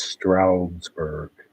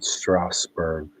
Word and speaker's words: Strasburg: It's Strasburg. It's not Strawber.